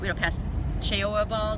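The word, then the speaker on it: Cheoah Bald: and hike up to sassa fras and down know cha ball is how you pronounce it tooa Gap but because this is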